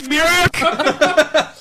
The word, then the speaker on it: Mirek: It's pronounced Carl Mirek.